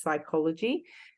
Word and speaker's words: psychology: The word that's PSY, it's actually pronounced psychology, and that's the study of how humans think and feel and behave.